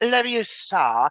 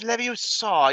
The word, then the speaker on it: Leviosa: But it's like, it's not Leviosa, it's Leviosa.